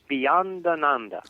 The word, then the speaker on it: Beyondananda: Once again, how do you pronounce the name of your alter ego? Beyondananda.